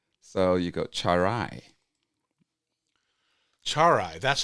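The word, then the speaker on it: Tswaray: Char and then like rye bread. So, you go charai.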